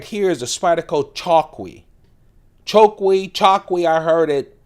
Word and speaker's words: Chokwe: here is a spidal chalki Choi chalk I heard it pronounced differently C h o kwe again it's based on a traditional knife from Zambia it is discontinued